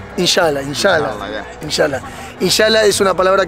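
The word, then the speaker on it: إن شاء الله: Inshallah. Inshallah, yeah. Inshallah es una palabra que usan los árabes para decir Dios proveerá. I hope to miss it when tomorrow. God will provide, yeah, inshallah.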